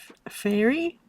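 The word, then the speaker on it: Faery: Is that F-A-E? Fairy? Fairy Bower. That's not how you spell fairy, but that's what it says, isn't it?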